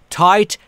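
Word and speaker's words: tight: آی یعنی آ ت و میبینید که جی ا در اینجا خونده نمیشه تایت هم یعنی تنگ میده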